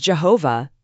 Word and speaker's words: Jehovah: Most scholars think Yahweh is likely the closest pronunciation. That's what we'll use here. But if someone says Jehovah, that's okay too.